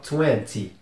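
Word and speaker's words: twenty: e nty y 20 como vocês podem ver tem esse y no final então o t não é totalmente mudo não é igual aquele aquelas palavras que eu falo não pronunci o t é bem mudo esse tem um pouco mais de som porque por causa do Y mas também não precisa pesar tanto é 20 20 Então vamos proseguir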